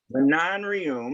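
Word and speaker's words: Manon Rhéaume: In 1992, Manon Rioum, that's how her name is pronounced, Oh, first yeah.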